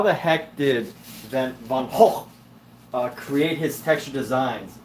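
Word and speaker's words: Van Gogh: you look at a van H painting Vincent Van go as Americans like to call him but it's actually pronounced van H um you know it's really hard to create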